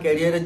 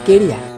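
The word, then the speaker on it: career: তুমি এখন প্রফেশনাল, তোমার ক্যারিয়ারের জন্য তুমি রোস্ট করছো। এই ভেড়া, আগে তুই ঠিক করে উচ্চারণ করতে শেখ। ওটা ক্যারিয়ার না, কেরিয়ার। কিন্তু একটা কথা তোমাকে বলি, আমি ছোটবেলার থেকে রোস্টার।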